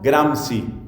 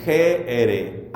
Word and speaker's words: Gramsci: que se llama Antonio Gramsci. Gramsci, G-R-A-M-S-C-I. Antonio Gramsci fue uno de los fundadores de todo el movimiento comunista y socialista en Italia. Seguramente se pronunciará Gramsci o algo parecido.